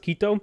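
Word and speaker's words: Quito: Kito is pronounced Kito.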